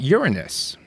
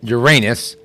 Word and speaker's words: Uranus: On this day in 1977, astronomers discovers rings around Uranus. Now, of course, that sounds a lot more funny if you mispronounce it Uranus, like most people do.